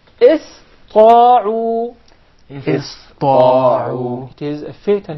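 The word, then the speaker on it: اسطاعوا: So it will be pronounced as sin, not sad. Okay. إِسْطَاعُوا. إِسْطَاعُوا.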